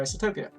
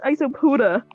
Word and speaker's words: Isopoda: Armadillidae is a family of wood lice, a terrestrial crustacean group in the order Isotopia. Armadillidae. Did you just say isotopia? It's isopoda. Oh, sorry. Isopoda. Isopoda.